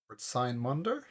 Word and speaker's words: Sign Mondo: Sign Mondo? It's sign like a sine wave, is how you pronounce it. And Mondo is pretty easy.